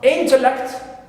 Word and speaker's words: intellect: first also is stressed in this noun also intellect in also my first syllable in this three syllable simple noun also